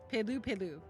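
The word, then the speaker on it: Pelupelu: Pu Peloo is how it's pronounced, I think.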